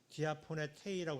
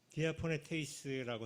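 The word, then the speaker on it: διαπονηθείς: 그러니까 이제 그래갖고 이제 바울이 화가 나갖고 디아포네테이스라고 성서에 썼는데 제가 디아포네 위에 본문에 18절에 디아포네 헬라어를 적고 발음을 디아포네테이라고 썼는데 테이스예요. 디아포네테이스라고 했는데 이 단어는 뭐냐면 번역은 몹시 성가시게 여겼다 이렇게.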